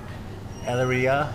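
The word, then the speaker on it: Elyria: between el iria oh boy how do you pronounce that one e-l-y-r-i-a eleria hello oh yeah yeah yeah anyways we're over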